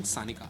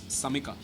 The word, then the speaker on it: Samika: Wait, it's not even Sanika. I've been spelling her name wrong. It's Samika.